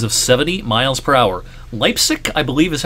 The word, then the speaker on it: Leipzig: Leipzig, I believe, is how you pronounce the town that this was near.